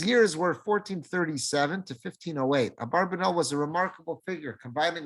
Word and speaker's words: Abarbanel: One of our classic commentators on the Torah is always referred to as Abarbanel. Some people will pronounce it Abravanel. however you pronounce it, it's the same person.